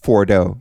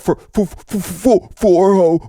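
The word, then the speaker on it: Fordow: This nigga couldn't even pronounce Fordo. He'd be like, for ho, we hit we bombed for ho this morning, and America is the best gravy on the planet.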